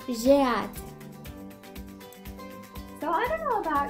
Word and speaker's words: j'ai hâte: It's j'ai hâte.